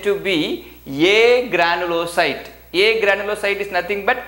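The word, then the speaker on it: agranulocyte: one is called granulocyte another one is called a granulocyte you have to pronounce it as a granulocyte there is no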